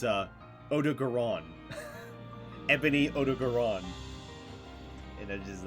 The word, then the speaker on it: Odogaron: Uh, I found out that ebony odaron, as I've been pronouncing, is actually, it sounds like almost like an Italian dish or something. It's a odoron. Ebony Odogaron.